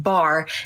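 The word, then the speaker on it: בר: Earlier, we discussed how Beit and Resh together is pronounced bar, which means son.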